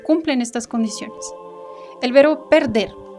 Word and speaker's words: perder: El verbo perder. Perder tiene dos sílabas. La sílaba tónica es la última y en esta última sílaba, que es la tónica, está la vocal E.